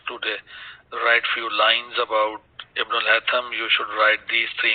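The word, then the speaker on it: Ibn al-Haytham: To talk about Ibn al-Hatham, that we pronounce as Ibn al-Hasham. Sheen is not there in the Arabic language, so we will call it as Ibn al-Hatham.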